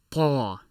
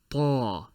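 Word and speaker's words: طاء: This letter is a heavy T, so expect to use the similar faculties to what you will use if you're pronouncing a T, but heavier. This letter is called Ta.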